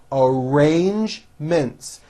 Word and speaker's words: arrangements: a strong r followed by the j sound arrange mints we made arrangements to meet after work basically there are three syllables bae sick lee basically it's basically a